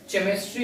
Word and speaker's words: chemistry: अब सी के लिए क्या है कि जब एच सी के बाद आता है, मीन्स केमिस्ट्री, देखिएगा केमिस्ट्री इसको नहीं पढ़ते हैं, केमिस्ट्री पढ़, CHEMISTRY, केमिस्ट्री, ठीक है, केमिस्ट्री, यानी कि एच साइलेंट है, केमिस्ट्री, ओके, केमिस्ट्री।